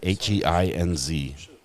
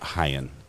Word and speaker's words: Heinz: Yes, like ketchup. There's a lawsuit. He said H-E-I-N-Z. So maybe it's Heinz, not Hyen.